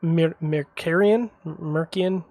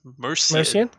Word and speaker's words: Mercian: By the way, I think it's just Mercian. I don't think it's There's no hard C.